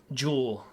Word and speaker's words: Jewel: And he's probably calling how's this pronounced? Jewel or Julie? Oh, sorry. The housekeeper? Let me check. Jewel. Jewel, okay.